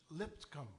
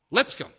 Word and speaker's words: Lipscomb: That fellow's last name is actually pronounced Lipscomb. Lipscomb.